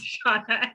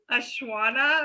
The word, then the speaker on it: Shauna: It's like X Shauna X. I was trying to pronounce it like Ashwana or something, but it's just literally an X and an X before her name.